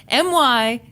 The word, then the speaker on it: Miami: Just an FYI, Miami, Oklahoma is pronounced Miami. What? LOL. Okay, MYAMMUH.